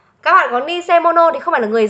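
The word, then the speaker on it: 偽物: Vậy cách đọc của cái chữ này, chúng ta sẽ đọc là nise sạ hay là nise mono. Đó, cái quan trọng ở đây ấy là để chúng ta phân biệt là chữ giả này không đọc là sạ.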